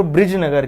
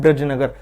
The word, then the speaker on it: ब्रिजनगर: देखिए, अगर इन दोनों को हम देखें तो ये कहीं ना कहीं सिमिलरिटी है, केवल और केवल आपको प्रोनाउंसिएशन में ध्यान रखना है। एक है ब्रजनगर, एक है ब्रिजनगर। यदि ब्रजनगर की बात करें तो ब्रजनगर झालराय पाटन, जो कि किस जिले में पड़ता है?